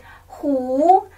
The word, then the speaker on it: 狐: 这是虎，他们的拼的一样，但是他的声调帽子不一样哦。